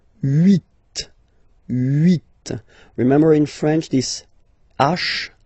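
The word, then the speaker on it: huit: Then here final t is pronounced. So root remember in French this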